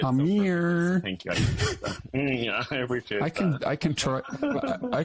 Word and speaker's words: Amir: my name so beautifully most people say Amir so I love that you said it I'm here thank you I can